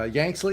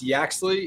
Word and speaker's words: Yaxley: us uh uh yanksly is that pronouncing that right very close mike okay give it to me better it's yaxley it's old dash means cuckoo over the hill you can call me